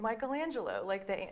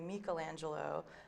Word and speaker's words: Michelangelo: Just because he's Michelangelo.